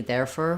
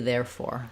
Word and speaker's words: therefore: we don't do that we don't do there for we do therefore therefore so a little bit of stress on both clear or but main stress on there therefore um great that's